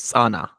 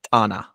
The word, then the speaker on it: Tana: G'ez word, for example, the famous lake is Sana, and then we pronounce it Tana.